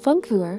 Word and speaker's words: Funkuhr: relatively new rose without many seller descriptions yet funk for pronounced is German for a radio clock that is